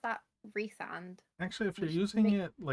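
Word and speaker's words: Rhysand: So I pronounce that Resand. actually, if you're which using make- it like John Rhys Davies, it should be Raysand. I pronounce it think.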